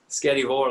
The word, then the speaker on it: Skerryvore: And am I pronouncing it right, Skerryvore? Skerryvore, that's it, yeah, Skerryvore. It's a Scottish R in there.